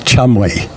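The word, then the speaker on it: Cholmondeley: Um, and like trying to pronounce this this name Cho Moni ladies, but it said in Wikipedia that it's just pronounced Chumli.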